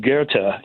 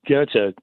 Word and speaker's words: Goethe: devotee of Johann von Goethe, the playwright, the novelist, the scientist from Germany. That's how you pronounce the name. But we pronounce Goethe, Goethe.